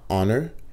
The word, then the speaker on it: honor: Dans honor, wap dit an honor. Normalement, H la prononcé, mais non mot ça n'est pas prononcé.